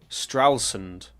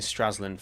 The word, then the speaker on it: Stralsund: Stralsund. I've been saying Stralsland for ages. I still want to say Stralsland, um, but Stralsund.